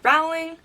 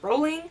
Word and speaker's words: Rowling: You know what, it could be either way because I feel like I hear people say Rowling and Rowling. I personally pronounce it rolling.